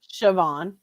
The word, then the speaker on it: Siobhan: by sobion how do you say Siobhan okay Siobhan okay Siobhan JH Envision labs which I'm pretty